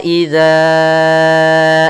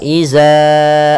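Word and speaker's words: إذا: Kemudian wa idza azlama, hati-hati dalam melafalkan huruf zal, jangan sampai kita membacanya dengan za. Misalnya wa iza azlama, hati-hati.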